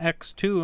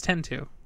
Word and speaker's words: X: last year ago now you pronounce it as an X instead of as a 10 well no it's 10 - 10 - yeah